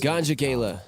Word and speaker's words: Ganja Gala: Yes, but they're pronounced Ganja Gala.